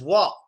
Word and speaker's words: walk: That's real hard to say like a native speaker because the letter L we barely pronounce and the letter T, there's a very difficult trick to it that I'll teach you later.